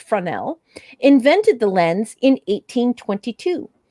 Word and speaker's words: Fresnel: jean fresnel oh and she says it is present pronounced fresnel oh i guess so it's fronell invented the lens in 1822.